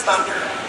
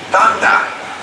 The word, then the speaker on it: Thunda: Yeah, it says Thunder, but that's not the name. The name is Thunda. You gotta say it right.